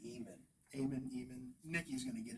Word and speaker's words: Eamon: E-A-M-O-N is usually Eamon.